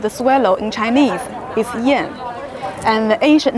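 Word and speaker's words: 燕: Pronunciation of the swallow in Chinese is Yan, and the ancient name of Beijing was Yanjing.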